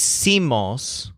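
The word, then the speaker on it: hicimos: they aren't really breathing the word is Simos with the stressed syllable seem means we made or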